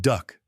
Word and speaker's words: DUKW: The DUKW amphibious truck, pronounced duck by the soldiers who operated them, solved logistics problems that German planners had never conceptualized.